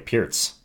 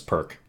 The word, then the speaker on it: Pirc: what it says so this is the pierce defense yes that's the correct pronunciation of it by the way pierce for a very long time in my chess career i thought it was perk probably up till low master until someone corrected